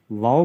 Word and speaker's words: واو: اور آخر میں جو واو ہے اس کے اوپر حمزہ آئے گا تو یہ آواز نکلتی ہے واو۔ جس طریقے سے وہ خوشی میں کہا جاتا ہے نا واو، یا حیرت کا اظہار